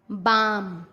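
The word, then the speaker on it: balm: एम से पहले CALM काम, बाम, पाम। एल साइलेंट होता है, क्लाम नहीं, काम, बाम, पाम।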